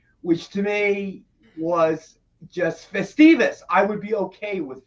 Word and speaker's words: Festivus: up i'm i'm going to state that publicly festivals yes do you do you want to do